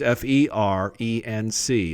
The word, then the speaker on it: Ferenc: It's F-E-R-E-N-C. There's no E. It's a Hungarian name, so it's actually pronounced Ferenc in Hungarian, or Ferenc, but no E in English.